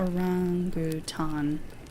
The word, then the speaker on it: orangutan: pronouncing that correctly is all my life I pronounced it as if there was a g at the end and there is not another g at the end it's a rangutan so 049 spent several